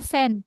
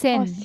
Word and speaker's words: Cent: ini bacanya cent ya, bukan Oh, sen.